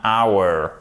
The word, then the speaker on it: hour: One car, two cars, c'est 1 second, 1 minute, 1 hour. Et attention, hour, c'est un des rares mots en anglais dont on ne prononce pas le H, ok?